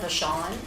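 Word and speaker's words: Vachon: My name is Vashawn. My last name is spelled V A C H O N.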